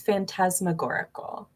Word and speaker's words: phantasmagorical: next slide we have fast mag goricle that's that fantast mag can't say again i think it's phantasmagorical nice whatever she said is the correct pronunciation um this is what